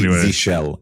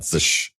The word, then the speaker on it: zsh: Unix commands one by one and see compare pronunciations, but it's definitely Zshell and not zush.